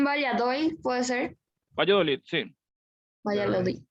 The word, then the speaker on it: Valladolid: Valladolid, ahí está. Esa es la pronunciación de la ciudad, no me venía bien.